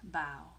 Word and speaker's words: bao: as b-a-o and it's pronounced bow like take a bow not bow like wear a bow in your head amy